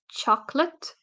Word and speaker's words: chocolate: example is the word chocolate so we don't say chocolate we say chocolate because the O here the second o is uh reduced and it just we have this lazy way of pronouncing things so if you say